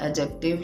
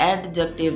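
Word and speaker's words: adjective: Next we are going to discuss about एडजेक्टिव। यह एडजेक्टिव नहीं है। एडजेक्टिव है। D will be silent here.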